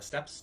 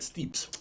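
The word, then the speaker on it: steppes: people that live on the steps not the steps steps but like planes yeah that's kind of pronounced that steeps i always pronounce the steps i think you were you're probably right could be right it's like tapas but stepas but so these are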